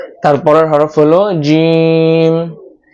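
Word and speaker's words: جيم: তারপরের হরফ হলো জিম। জিমটা উচ্চারণ করতে হবে জিহ্বার মধ্যখান উপরের তালুর সাথে লাগিয়ে বাতাস বের হওয়া ছাড়া উচ্চারণ করতে হবে, অর্থাৎ বাতাস বের করতে পারবেন না।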